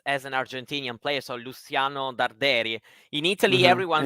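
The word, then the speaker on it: Luciano Darderi: should be what's the correct what's the correct pronunciation then well he should be named as as an Argentinian player so Luciano derei in Italy everyone says yeah and Miss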